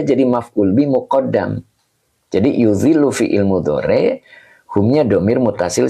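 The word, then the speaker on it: يُظِلُّ: Yuzillu. Nih, bacanya yuzillu.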